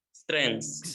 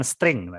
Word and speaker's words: strengths: Strengths. Ya, strengths ya, bukan string. Kamu bacanya kan tadi string.